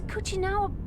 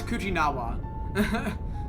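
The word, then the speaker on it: Kuchinawa: Why is Coochinawa Cooa? I've been saying his name wrong the whole playth through. It's Coojinawa.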